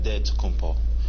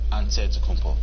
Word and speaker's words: Antetokounmpo: how you pronounce it you gotta say with the d so it's a dead compo but in the greek way you say with the nt like antetokounmpo whatever you got just say